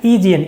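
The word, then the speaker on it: Aegean: इसका प्रोनाउंसिएशन क्या है? ईजीएन।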